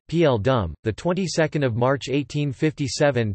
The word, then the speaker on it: Paul Doumer: Joseph Athanase Gaston Paul Doumer, commonly known as Paul Doumer, French pronunciation, P.L. Dum, the 22nd of March